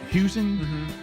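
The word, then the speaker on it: Huesing: Uh we'll be uh chatting uh um today and is it how you say his name? Is it um Huing? Huing.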